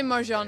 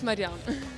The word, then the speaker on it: Marjan: I'm Marjan. They say Marjan here. They always pronounce it Marjan, but it's Marjan.